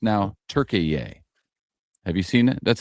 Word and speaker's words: Türkiye: Which somehow is pronounced now Türkiye. Have you seen it? That's how the announcers are all pronounced and it's spelled differently. But it's Türkiye.